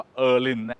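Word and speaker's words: Öhlins: ของ จีน นะ ฮะ ที่ คน ไทย เรียก โอลิน น่ะ อ่า ของ ที่ อ่าน ว่า เอิน เอิน จาก สวีเดน นะ ฮะ เอิน นะ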